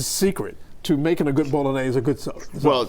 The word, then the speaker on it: Bolognese: this morning to make a special short rib bolognaise recipe Bolognese I said it right well this is basically